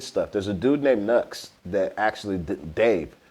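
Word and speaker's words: Knucks: there's a dude named Nu that has a song called Leon the Professional Nu is spelled k n u c KS ah it's a beautiful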